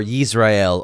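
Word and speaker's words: ישראל: But he renames him Israel or Yisrael or Yasharel. I've been testing this, and I do think that Dr. Pigeon may have it right here in the Sefer of Yasharel.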